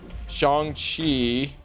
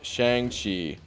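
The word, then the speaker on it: Shang-Chi: himself on pronouncing correctly it's chongchi not shang chi i'm gonna struggle with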